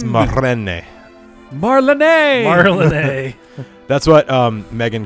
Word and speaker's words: Marlene: Marley! It's Marlene.